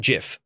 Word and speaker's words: GIF: a good example margaret according to the guy who created the graphics interchange format or gif he says issue should be pronounced jif he's wrong according to